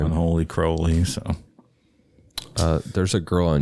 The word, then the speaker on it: Crowley: There's no audio of him pronouncing his name, but in some of his poetry, he rhymed his name with unholy, Right. Unholy Crowley.